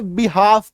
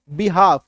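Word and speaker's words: behalf: क्या पढ़ते हैं हाफ है ना तो इसका उच्चारण क्या होता है बहाव अभी कई सारे लोग इसको क्या पढ़ेंगे बि हाफ पढ़ेंगे है ना कई सारे लोग इसको क्या पढ़ते हैं बिहाव क्यों क्योंकि यहां पे शुरू में बी लिखा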